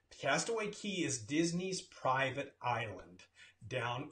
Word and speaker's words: Castaway Cay: Well, it's pronounced Castaway Cay. That's the way it's pronounced. Castaway Cay is Disney's private island down in the Bahamas.